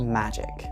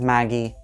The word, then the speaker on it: Magi: before I get started Magi is the correct pronunciation of the word but so is Maggie and so is Magi it just depends on where you're from and wherever you're from